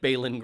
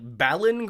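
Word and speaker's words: Baelon: Well, no, the only reason it's spelled differently is because it's a Targaryen name. The AE is the Valyrianness, whereas BALON is like more like, you know, it's first man. It's simple. There's no AE.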